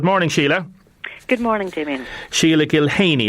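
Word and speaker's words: Sheila Gilheany: Sheila Gilhaney, is that the correct pronunciation, Sheila? It is indeed, yes.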